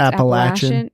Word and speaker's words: Appalachian: Yeah, well, because it's also, I want to say too, because where I'm from, we always say like, the Appalachian Trail. Yeah. But it's actually pronounced Appalachian.